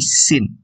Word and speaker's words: scene: Cara bacanya bukan skin ya, tapi scene.